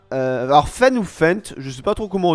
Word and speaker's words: Fendt: trop comment on dit, dites-moi si vous prononcez le T ou pas dans les commentaires. Moi, honnêtement, je dis Fendt. Ouais, je dis Fendt, ok. Parce que les gars, il y a un T à la fin, voilà.